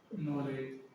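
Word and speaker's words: knowledge: के साइलेंट रहता है, एन से पहले के हो तो के सामान्यतः साइलेंट रहता है, ठीक है, के सामान्यतः साइलेंट रहता है। एग्जाम्पल देख लो, नॉलेज, इसे क्या बोलते हैं, नॉलेज, ठीक है।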